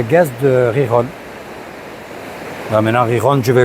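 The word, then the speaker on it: Gijón: Alors c'est pas Gijon, c'est Riron.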